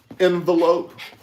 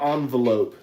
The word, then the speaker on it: envelope: Envelope or envelope that you mail something in? I've heard it both ways. I say envelope. Yep. I think that would be the proper way of saying it.